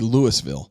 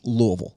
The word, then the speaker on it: Louisville: if you pronounce it phonetically, it would be Louisville. Louisville. It would be Lewisville. Well, yeah, but it's according to spelling. Yeah, but but it's Louisville. Yeah, but phonetically it's three syllables. If you're from the south, it's about one and a half. It's about one and a half is what it is.